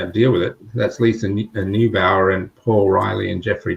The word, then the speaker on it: Neubauer: And so was Lisa Neubauer, if that's how you pronounce her name.